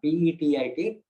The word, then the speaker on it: petit: Or the opposite, or the other type is petit mal, P-E-T-I-T, not grand one, petit, petit mal, where it is known as absence seizures, which is sometimes common among children.